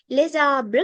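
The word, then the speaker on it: les arbres: liaison එකක් කියලා කියන්නේ අපි මේ දෙකට එකතු කරලා කියනවා. right? le abra කියලා තනි වචනයක් නෙවෙයි. අපි මේ දෙන්න එකට එකතු කරලා pronounce කරනවා. එකට එකතු කරලා pronounce කරොත් මේක කියවෙන්නේ les abra කියලා.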